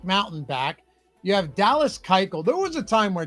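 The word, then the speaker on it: Keuchel: Sai Young fish live I have so been pronouncing that like a exercise kele yeah it's Dallas Kel run the bases.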